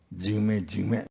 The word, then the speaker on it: Jigme: Jigme. 2 times. 2 times. Jigma.